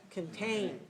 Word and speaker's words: contain: one watch watch this contain which one is big the second one so which one is